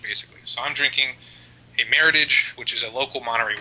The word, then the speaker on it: Meritage: it's actually not pronounced meritage it's pronounced meritage just like rhyming with heritage and a meritage is